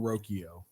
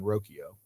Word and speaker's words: Rocchio: I believe the Guardians pronounce his name Brian Rokio.